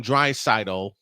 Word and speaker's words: Draisaitl: But y'all have to see what happened when Leon Draisaitl, and I finally said it right, even though Droid said it right all last night.